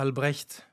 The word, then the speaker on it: Albrecht: هو بالألماني ألبريشت. أوكي. والاسم في الوسط هذا ما بستعمله، يعني إذا اسمي اللي أنا معروف به ألبريشت. لكن النطق طبعا بالنسبة لغير الناطقين بالألمانية صعب. فمتعود في العالم العربي بيقولوا لي ألبريشت.